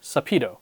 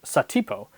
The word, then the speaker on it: Satipo: And finally, there's Indy's treacherous assistant, Sapito, or Satipo, depending on which pronunciation you want to go with.